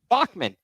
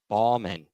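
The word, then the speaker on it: Baughman: what's the last name Bachman it's B- a u g h m an no one told me it was Bachman I was pronouncing it Balman all season long I get this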